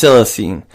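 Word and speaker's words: coelacanth: horn don't quote me it's called the Silicon silicine it's it's pronounced it's it's spelled c-o-e-l-a-c-a-n-t-h but it's pronounced silacine uh it's weird fish it was found off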